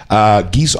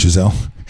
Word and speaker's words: Geisel: It looks like Geisel. Geisel? Mm-hmm. Not Giselle. Giselle.